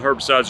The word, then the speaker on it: herbicides: Herbicides, people, somebody crazy said the H is silent. Okay, herbicides, whatever. You know what I'm talking about. Nitpickers on here want to leave stupid comments like that. Tell me the H is silent. Well, they shouldn't have put an H if they wanted an H not to be pronounced.